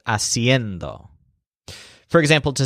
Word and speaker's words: haciendo: hacer instead of ser in both cases the stresses on end siendo and haciendo for example to say